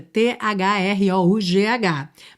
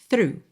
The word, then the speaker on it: through: Quando você vê a palavra escrita t h r o u g h, mas a pronúncia é simplesmente through, through.